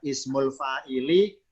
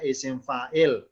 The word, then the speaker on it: isim fa'il: Nama lengkapnya ismul fa'ili, bacanya isim fa'il.